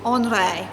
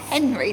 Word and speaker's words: Henri: on this book is about a man called andre andre he's called andre matisse okay looks like henry doesn't it but it's honore andre was french